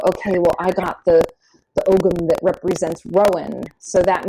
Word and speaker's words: Ogham: And we're circling back to Etsy and our small shops, but there are some really cool kits of the Ogham. Some people call it Om.